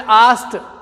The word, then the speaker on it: asked: और ASKED, इस शब्द का प्रोनाउंसिएशन होता आस्क्ड। क्या होता बच्चों, आस्क्ड। ये डै नहीं बोलता है, पीछे टै बोलता है। क्या बोलता है, टै। आस्क्ड नहीं बोलेंगे, आस्क्ड बोलेंगे इसको।